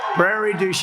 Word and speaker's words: Prairie du Chien: we got it right got it nailed it Prairie douch what a beautiful name and we have to